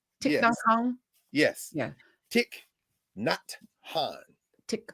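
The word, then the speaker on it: Thích Nhất Hạnh: The monk that just Oh, made Tiknan, Tiknon Han. Tiknon Yes, Kong. yes. Yeah, Tick, not Han.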